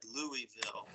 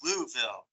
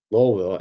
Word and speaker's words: Louisville: heard just for fairness somebody else said Louisville I can at least I can at least complain and say it's louville lville yeah thank you all